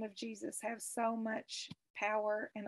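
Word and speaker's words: Jesús: who have that name it's pronounced jesus in spanish but just a quick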